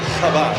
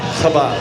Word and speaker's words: Chabad: Chabad. Say it for me. Chabad.